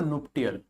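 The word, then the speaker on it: nuptial: क्या पढ़ते हैं इसको? नुप्टियल।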